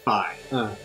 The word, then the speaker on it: Fi: Or Fi. I think it's pronounced Fi. I remember it being pronounced Fee. Well, I always said Fee, but in Hyrule Warriors Legends, they say Fi.